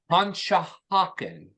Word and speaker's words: Conshohocken: I actually know how to pronounce that. So, Conshohocken.